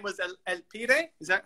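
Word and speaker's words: El Pibe: this game i didn't know his name was el pire is that how you say it yeah it's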